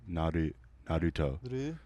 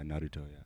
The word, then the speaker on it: Naruto: It's like almost like an L. Naruto. Naruto, yeah. Yeah, Naruto.